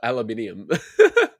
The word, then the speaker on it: aluminium: Yeah, especially Especially the metal ones that like the aluminum ones. Yeah. Jeez. Oh, actually, yeah. Get the Americans say aluminum or aluminium.